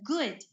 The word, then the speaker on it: good: have hobbies good also be careful not to oh overly stretch the vowel sound it sounds like good or foot so it's good foot okay ah and then